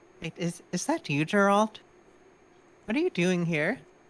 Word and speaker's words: Geralt: Marina pops her head in and she says, "Wait, is that you, Geralt? What are you doing here?" Oh my god, his name is Geralt. Soft G though, so it's different.